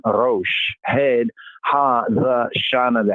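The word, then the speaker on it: ראש: in the Arabic, but in the Hebrew, the pronunciation Rosh, head, Ha, the Shana, the head of the year.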